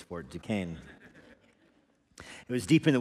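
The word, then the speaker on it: Fort Duquesne: know French people would insist that it be pronounced uh differently than that but we won the war so it's Fort ducain it was deep in the wilderness of the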